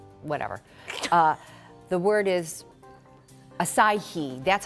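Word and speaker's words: açaí: first one is and this one I always mispronounce I always say a whatever uh the word is acai that's how you're supposed to say it now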